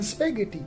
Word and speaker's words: spaghetti: ghost h is silent in spaghetti the h is silent silent h in wh